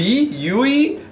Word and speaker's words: Yui: order so this is a I'm going to pronounce it wrong it's a we yui it's y UI um this is a super